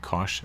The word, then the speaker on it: cosh: they were before and sometimes this is pronounced the Cinch of Z and cosh of Z and we may run